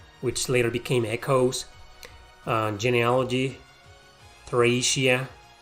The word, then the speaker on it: Thracia: Okay, so there's the first one, there's the sequel, there's Gaiden, which later became Echoes, Genealogy, Thracia, Trachea, it's actually pronounced in Japan Trachea, 776, the Blazing Blade, no, the Binding Blade, the Blazing Blade, the Sacred Stones, Path of Radiance, Radiant Dawn.